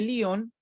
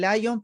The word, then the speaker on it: Lyon: Tenemos entonces a Ireneo de Lyon, algunos le dicen Lyon, pero Lyon es una, digamos, una pronunciación inglesa, ¿ya? Nosotros, Lyon o Ireneo no era inglés, ¿ya?